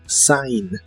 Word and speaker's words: sign: usa usaremos el verbo Sign que significa firmar le agregas un sonido a después de la s y la G de esta palabra no se pronuncia Sign Sign y usaremos